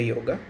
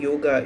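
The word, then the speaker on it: योग: and introduction of the yoga so actually the yoga the pronunciation yoga is a westernized uh form uh actually the word Sanskrit word which is a real word is yog so means the meaning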